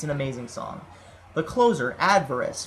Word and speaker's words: Adverse: The closer, Adverse. For a long time I actually pronounced this as Adverice until I actually listened to the song for the lyrics versus the melody and the structure.